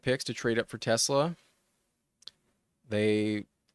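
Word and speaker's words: TeSlaa: I I heard it's pronounced Tesla, but let's look at some some game logs while we wait.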